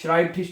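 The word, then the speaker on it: Schreibtisch: ठीक है क्या बनेगा देखिए इ आई इकट्ठा आया है इ आई इकट्ठा है तो क्या बनेगा आई बनेगा ठीक है शराइब और उसके बाद ठिश श्राइब थिश कहते हैं मेज को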